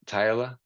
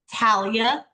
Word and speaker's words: Talia: Am I saying it right? Tyla? Talia. Talia. Oh my gosh, I butchered you.